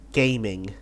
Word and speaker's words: Gaming: Yeah, this country is inspired by the China, and so the proper way to pronounce Gaming's name is actually Ga Ming.